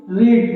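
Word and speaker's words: read: first form होता है ये तीनों स्पेलिंग आपको वही होता है लेकिन प्रनंसीएशन में थोड़ा सा चेंज आता है रेड इसको पढ़ा जाता है तो याद हो गया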